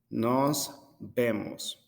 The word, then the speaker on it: nos vemos: you can tell but when i pronounce the v it sounds like a b sound because in spanish we do the same and the last goodbye